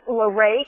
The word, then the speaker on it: LaRae: It's LaRae, and it's spelled L-A-R-A-E, and the last name is.